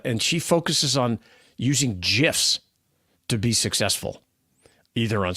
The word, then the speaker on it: GIF: Steve White, who created the graphics interchange format at CompuServe in 1987, says it's pronounced GIF. There you go. So like the peanut butter.